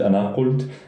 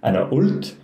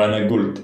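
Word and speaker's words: أنا قلت: And Levantine dialects, the qaf is either pronounced as a glottal stop or a ga. So it can be ana ult or ana gult.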